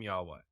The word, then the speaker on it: Yahweh: but when you get into that's how you pronounce the name Yahweh say his name whole life you get life